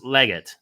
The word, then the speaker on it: Leggat: Am I pronouncing your last name Chris Leggat? Spot on, 100% perfect, Alex. Well done.